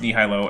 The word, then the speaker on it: nihilo: It is not pronounced nihilo, and Kent did pronounce it that way.